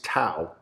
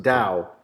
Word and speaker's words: TAO: hard rock yeah and dao which most people pronounce tao whoops yeah tao it's it's it's pronounced dao in the venetian yeah and you know i'm